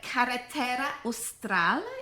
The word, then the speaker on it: Carretera Austral: The Carretera Austral, is how you say it?